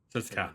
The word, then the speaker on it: Ses'qua: Ses'qua, my bad. Camille Arno, Agash Mekana's dispatched by Ses'qua. Okay, so I did pronounce at least the second one, right?